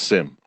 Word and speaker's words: SIEM: and event management are SIEM pronounced sim is an approach to